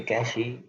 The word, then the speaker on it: cache: ए कैशी pronounced कैश is small and very fast memory.